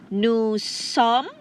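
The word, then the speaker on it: nous sommes: have next you have new song remember s at the end is silent for both nu and som again i repeat new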